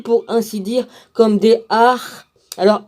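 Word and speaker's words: arrhes: qu'elle eût reçu, pour ainsi dire, comme des ar. Alors ar, ça s'écrit A-R-R-H-E-S.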